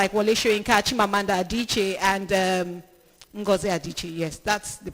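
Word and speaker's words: Adichie: You know, interestingly, one thing I like about writers like Wes Inkimanda Adiche and um Adiche. Yes, that's the pronounce.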